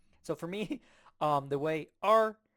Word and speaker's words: 二: This is how 2 is pronounced in Chinese. 二 R, R, R.